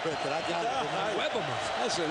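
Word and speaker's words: Iwebema: Good job with that pronunciation, didn't he? I stuttered a little bit, but I got it. Owebama.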